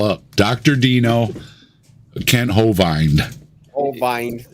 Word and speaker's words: Hovind: Like he used a long I sound for Hovind, and then used the E sound that I makes for Dino. Dino.